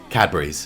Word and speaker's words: Cadbury's: but come to England, try some Cadbury's, and that is how you pronounce it, not Cadbury, Cadbury's, okay, Cadbury's. But no, I can't say